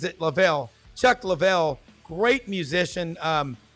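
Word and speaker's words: Leavell: twin he goes he's my first cousin he pronounces it lavel Chuck lvll great musician um I mean he's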